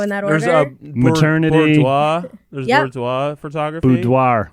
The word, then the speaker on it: boudoir: Boudoir. You had You all sound the right French. letters. Yeah. Boudoir. Am I saying it right? Well, I think you pronounce it like the French do.